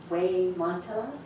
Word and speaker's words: Xemontalot: Victor and how do you say your name we monot so we're going to have a really informative